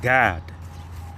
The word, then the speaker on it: Gad: she called his name Gad. And in the Hebrew, that name Gad is pronounced God, and it means troop.